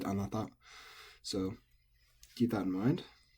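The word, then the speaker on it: あなた: Anata, for you, is nakadaka, but it can also be pronounced anata by natives sometimes.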